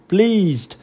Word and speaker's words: pleased: Pleased và finished. Thì lưu ý là câu D mình đọc là tờ đây ha. Và câu C mình đọc là đờ. Nhá, pleased.